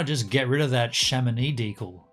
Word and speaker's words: Chamonix: the panel that had the shamani yeah that's how you say it not yeah you don't say shamanix so there was a